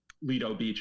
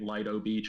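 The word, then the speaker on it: Lido Beach: bosses live there um they chronically mispronounce the uh Leo Beach on TV they keep calling it Li Beach which pisses me off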